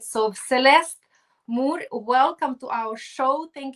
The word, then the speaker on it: Moore: And do I pronounce correctly? It's Moore, or yeah, it's Moore, right? Yeah, It's without more. E. Yeah, Moore.